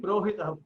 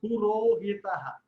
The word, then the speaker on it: Purohita: You are saying Prohita, Purohita. Purohita.